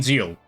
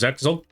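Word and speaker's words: Zexal: Yeah, it's Zeal. That's how you pronounce it, Zeal. I thought it was Zexel.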